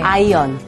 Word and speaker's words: iron: 우리가 철분은 IRON, 네. R이 묵음입니다. 네. 아이언.